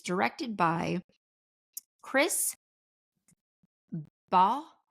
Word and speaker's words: Baugh: I looked at multiple ways to pronounce this. It could be Baugh, it could be Bohr, it could be Baugh. So I'm going to go with Chris Baugh, spelled Baugh for anybody interested.